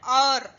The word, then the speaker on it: hour: Here hour. H is silent.